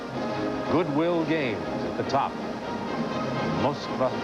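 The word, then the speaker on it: Москва: Moskva 86, Russian pronunciation of the city of Moscow.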